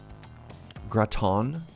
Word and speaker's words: gratin: I'm saying it wrong Graton you're good simply pronounce it in French frying pan use time